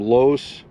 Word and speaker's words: loess: is in its name los which rhymes with bus is german for loose soil hmm okay because the